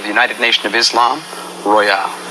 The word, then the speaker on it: Royall: And proper pronunciation of my name is Royall, not Royall. Okay. And the reason why that is, if it was R-O-Y-A-L, it would be Royall.